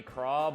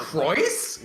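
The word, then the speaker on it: Crois: Shockingly enough, yeah, no, you'd think it would be Craw, but they actually just It's straight up Croy. pronounce it Croyce. With the Croyce? Is S it as the- Croyce?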